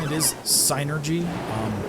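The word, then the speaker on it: Psynergy: official pronunciation it is sinergy um cuz it's psychic energy sinergy um but for like decades uh I've been saying it Synergy you know just like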